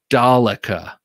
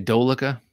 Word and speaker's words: Dalica: It's pronounced Dalica. You Philistine. All right. Yeah, it wouldn't be the first time I was called a Philistine. Dalica. What did I say? Dolica? Such a rube.